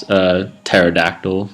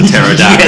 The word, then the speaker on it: pterodactyl: Depends how you pronounce pterodactyl. Pterodactyl, if you want to add the P.